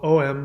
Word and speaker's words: Om: So Om, is spelled O-M, but you actually pronounce it with an N-G to stimulate the third eye and the crown chakra.